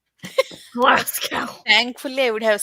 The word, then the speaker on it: Glasgow: Glass when people say Glascow. Glasow.